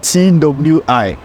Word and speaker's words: Twi: oh you told me last time yeah yeah it's spelled t w i Twi I and you say all right yeah